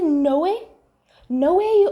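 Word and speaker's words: Noé: It's not Noah. It's like either Noe or no. which I'm assuming it's Noe, because Chloe and Zoe's names in French are pronounced Chloe and Zoe. So I'm assuming his name is Noe.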